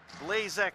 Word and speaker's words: Blazek: now riched we got so Blazek is Blazek Blazek to the proper pronunciation ryan and we got